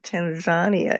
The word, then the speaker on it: Tanzania: Here in the U.S., we normally say Tanzania, but I hear you saying Tanzania. Is that how they pronounce it over there? Yeah. Okay. I'm just pronouncing it like they do.